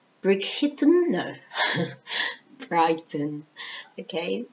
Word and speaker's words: Brighton: b e l e n z okay H Brighton which is the pronunciation brick no Brighton okay b r i g h t o